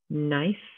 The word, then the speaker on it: knife: Next we have knit, knife, night, knock, knee. So all of these have a silent K in the beginning.